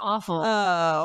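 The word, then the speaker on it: offal: l that's what they're it's pronounced awful but they're not aw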